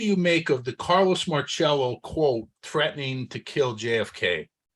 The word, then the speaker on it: Marcello: It's not Marcello. It's pronounced Marcello.